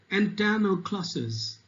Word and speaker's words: antanaclasis: So, Antanoclases. So you should pronounce it this way.